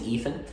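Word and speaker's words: Eythen: My name is Ethan, but it's spelled E-Y-T-H-E-N. E-Y-T-H-E-N.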